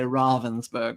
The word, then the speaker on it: Ravensburger: The first year, it was like there's about 5 different pronunciations. Everyone has kind of learned. And now we all say Ravensburger. It's German.